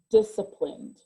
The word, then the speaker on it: disciplined: looking for so remember that you can say inappropriately which is disk applind so that it helps you to remember that c in there but really we don't say the c it's silent it's disciplined capitalized okay next i